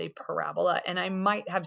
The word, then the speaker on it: parabola: But the way you do say that is parabola with the accent on the ra.